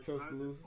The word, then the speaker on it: Tuscaloosa: You mentioned that you were from Tuscaloosa. Is that how we say that? Yeah, you saying it right, Tuscaloosa?